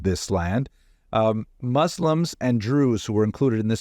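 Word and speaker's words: Druze: he uses this word Drews it's not Jews it's Drews this is another ethnic group that are similar to Muslims but they seem to be their own group but that rhymes with Jews and the caption is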